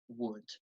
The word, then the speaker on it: would: but then we also have the modal verb wood and you'll notice that even though the modal